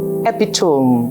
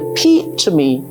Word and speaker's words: epitome: Words like epitome. Some speakers would say epitome. Look at that beautiful woman. She's an epitome of beauty. Instead of saying she's the epitome of beauty.